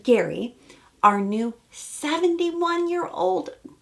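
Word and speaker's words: Gerry: we meet Gary Jerry it's spelled but it's pronounced Gary our new 71 year old Bachelor who is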